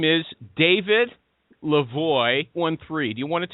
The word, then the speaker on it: LaVoie: Okay, you told me it's really LaVoie, so I'll call you LaVoie.